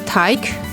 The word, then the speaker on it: Teig: A good example from Noun Town is Teig, which means dough. It starts with t and ends with k.